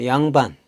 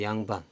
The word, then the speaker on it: 양반: 우리가 둘 양이라고 했습니다 근데 양자가 단어 첫 소리에 올 때 두 법칙이 적용되어서 양으로 발음이 된 거죠 그래서 양반 양반 뜻은 두 개의